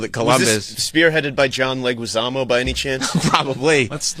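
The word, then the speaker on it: Leguizamo: was brought to you they said it right there John leguisamo also known as The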